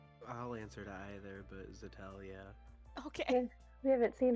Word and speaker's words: Zixeltel: I'll answer to either, but Zixeltel, yeah.